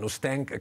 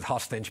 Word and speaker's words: Hostench: Hostench comes from Olot, but they pronounce it Hostench because it sounds foreign, but it's Catalan 100%.